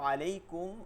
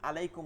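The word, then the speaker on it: عليكم: ঠিকমতন রাখা আসসালামু আলাইকুম আলাইকুম বলবো না কি বলবো আলাইকুম যেহেতু আইন আছে আইনের উচ্চারণটা রাখা এইভাবে যদি প্র্যাকটিস করতে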